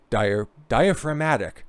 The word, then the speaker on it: diaphragmatic: Diaphragmatic. Gotta be able to see that G and not want to pronounce it.